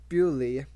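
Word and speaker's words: Beaulieu: England's grandest stately homes Buu pronounced buy was a spraing estate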